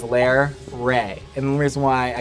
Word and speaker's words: Larray: and tribute to her the way you pronounce it is lair ray and the reason why